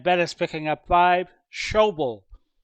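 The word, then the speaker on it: Schobel: is picking up five show bull rhymes with george goble making the tackle at the 48.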